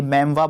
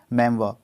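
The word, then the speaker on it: memoir: इसको हम प्रोनाउंस करते हैं इस तरीके से, ये मेमवा बोलते हैं इसको। ठीक है, मेमवा, तो ये मेमोरिस्ट हो गया है।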